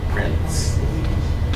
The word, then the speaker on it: prince: talking about person thing Prince okay and there's a t sound in there Prince the way how you hold on to that sound Prince he prints his name you don't have that